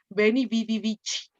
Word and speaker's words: veni, vidi, vici: se hizo muy famosa, pronunciada a la italiana, pronunciada con la pronunciación esta que toman en la iglesia luego, ¿no? Veni, vidi, vici.